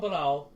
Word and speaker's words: Palau: Somebody from Palau, sorry, it's not pronounced with a P, it's pronounced with a B. Somebody from Palau posted a picture with I don't even know fucking what kind of fish it was.